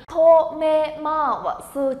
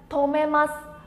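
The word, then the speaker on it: 止めます: Tomemasu chính là dừng đỗ mọi người nhá. Từ này chúng ta đọc là gì đây? Tomemasu.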